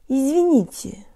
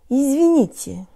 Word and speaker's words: извините: Jaw slightly forward, tip of the tongue behind the bottom teeth, lips rounded and protruded, and make sure your tongue is really high and forward. Here we go. Jaw. Tongue, lips. I-zvi-ni-ti. I-zvi-ni-ti. Izvinite. Izvinite.